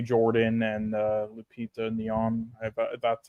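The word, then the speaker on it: Lupita Nyong'o: handouts for me mainly Michael B Jordan and Lupita neon that's how you pronounce her name but everyone else I thought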